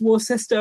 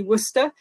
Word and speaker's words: Worcester: from University of Wooster which is not pronounced war sister or Worchester I know it looks a bit weird but it's actually Wooster at Wooster we have